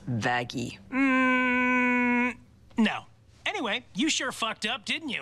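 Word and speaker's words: Vaggie: like you it's why the best thing ever vag actually it's pronounced vaggi no anyway you sure up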